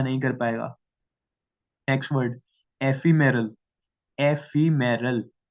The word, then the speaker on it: ephemeral: Next word एफीमेरल, एफीमेरल, इट इज EPHEMERAL but pronounced as एफीमेरल।